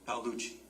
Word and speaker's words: Paluchi: So and I'm sorry, how do you say your last name? Is it Paluchi? Paluchi. Paluchi?